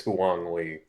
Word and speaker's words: Huang Li: Huang Li. From Chinatown Wars. Excellent. Did anyone play that Excellent. game? Everyone Get on played the your game. phone now. But Sam did pronounce it correctly. It's Huang Li.